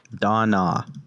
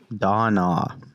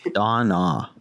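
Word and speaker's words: Dan'a: my lazarus patch on dinah you pronounce all the letters donna it's spelled d-a-n apostrophe a don ah okay so i roll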